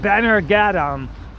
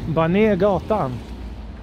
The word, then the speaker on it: Bonniergatan: And probably in English you people would say something like Bannergatan or something like that. Or Gatan. Bannergatan. Bonniergatan. You know, in Swedish you almost have to say it like you're overreacting, like a bit of drama into it.